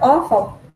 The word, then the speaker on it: awful: Yes, of course, because of this word awful. No. The traffic. The traffic. The traffic. Traffic. Yes, it's awful. It's awful. You pronounce the A and the W together. Aw. Awful. Awful is terrible, horrible.